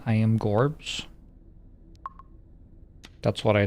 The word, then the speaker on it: Jorbs: Is my name pronounced Gorbs or Jeeps? Gorbs. Yeah, Gorbs.